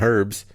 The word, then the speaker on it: herbs: Or peaches and herbs. It's fucking herbs. H is silent.